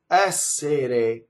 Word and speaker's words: essere: Now the real word is essere with a flipped R because that R is surrounded by vowels.